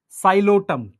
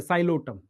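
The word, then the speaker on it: Psilotum: साइलोटम, P silent है, साइलोटम, terrace, डायोप्टेरिस, Adiantum, azolla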